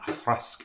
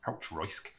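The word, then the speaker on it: Auchroisk: They actually released it under the nickname the Unpronounceable Malt, which, seeing as we just had an Athrusk earlier, which looks like it should be pronounced Outroisk, I'm not sure how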